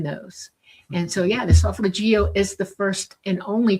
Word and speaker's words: solfeggio: The solfeggio.